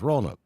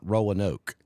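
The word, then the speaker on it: Roanoke: Rowan Oak you know you can tell someone who is a native of ran o because of the way they say it it's roke it's not Rowan Oak well you don't say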